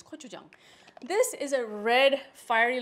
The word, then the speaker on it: gochujang: It's spelled, starts with a G, but pronounced with a K. So when you're saying this in front of other people, you can sound really sophisticated. It's gochujang.